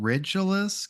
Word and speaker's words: Regulus: Well, and even the name Regulus, which we should be pronouncing Regulus because it's the same reg as in regent. Like it's literally Mm.